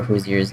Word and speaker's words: Hoosier: Indiana people are Hoosiers and it's pronounced Hoosier.